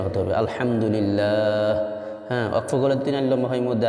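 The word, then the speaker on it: الحمد لله: শেষে হা উচ্চারণটা সঠিক হতে সুবহানাল্লাহ শেষে হায়ের উচ্চারণ হতে হবে আলহামদুলিল্লাহ ওয়াকফলে তিন লম্বা হয় মধ্যে আরজি এটা আপনাদের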